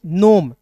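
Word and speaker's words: gnome: जी एन ओ एम ई तो जी यहां पे साइलेंट होता है।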